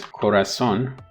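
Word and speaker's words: corazón: heart in spanish is corazon according to the rules of phonology in spanish the stress should be penultimate which is but because it's not it is on the last syllable you mark it basically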